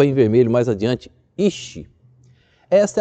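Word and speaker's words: איש: em vermelho mais adiante, ish. Essa é a palavra, se eu quero pronunciar homem em hebraico, é ish.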